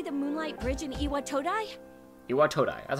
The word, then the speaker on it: Iwatodai: Iwatodai, that's how you pronounce it.